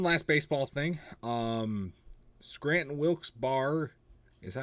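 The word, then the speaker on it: Wilkes-Barre: Um, Scranton Wilsbar. Is that how you pronounce them? Wils Bear.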